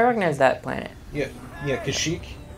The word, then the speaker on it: Kashyyyk: that planet yeah yeah kashyyyk is you know it's the whole place yeah that's how you pronounce it you're not the